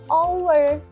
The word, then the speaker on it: hour: Contohnya haur kan hurufnya H, tapi kok bacanya O, hour.